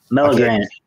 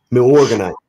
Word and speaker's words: Milorganite: Milorganite. That's it. What? Milorganite.